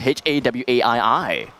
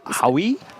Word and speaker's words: Hawaii: para sounds way better then how would you pronounce h-a-w-a-i-i it wait wait why wait slow down w-a-i-i you know howie wait really h-a-w-a-i-i a-i-i hawaii right yeah i